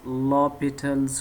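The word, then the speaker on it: L'Hôpital's: point of inflection and lopital's rule remember that this h is silent here we pronounce this as lopital's rule so first of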